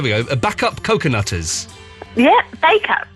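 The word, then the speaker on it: Bacup: Bakeup. Bakeup. Is how you pronounce it?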